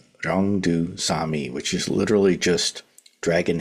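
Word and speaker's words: 용두사미: And in Korean it's pronounced Ryongdu Sami, which is literally just dragon head, snake tail.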